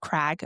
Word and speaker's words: Craig: I'm always like a little bit more sympathetic towards Craig, even, or Crag, or whatever you Americans call it. It's spelt Craig, people. Crag. Yeah, I guess they do say, especially down south, I think Crag.